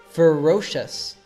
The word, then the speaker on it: ferocious: did you know that most of these share the same simple sound us for this ous termination for example listen to these three words courageous mysterious ferocious in the case of